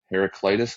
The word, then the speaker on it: Heraclitus: Because this Heraclitus guy, that's how you say it, is just